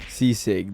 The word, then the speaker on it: Sisig: Sisig. That's how you say it.